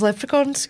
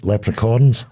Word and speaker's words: leprechaun: You got a You calling them lepre leprechaorns? Leprechaun.